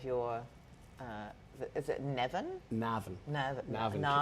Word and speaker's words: Navan: Navan.